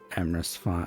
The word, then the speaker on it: Emrys: Let us raid Emrys Rhymes with Abyss, because obviously we need to do that.